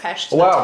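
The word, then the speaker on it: Pest: It's actually pronounced Pesh.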